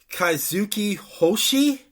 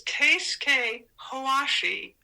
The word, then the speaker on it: Keisuke Hoashi: Kaizuki Hoshi? Actually, it's Keisuke Hoashi.